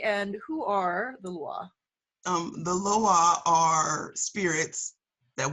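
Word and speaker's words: lwa: maybe people have seen this online where sometimes it's spelled L-O-A or L-W-A, and they're like, Loa? Louis? How do we say it correctly, and who are the Lua?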